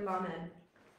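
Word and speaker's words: לָמֶד: All right, we were at the letter lamed.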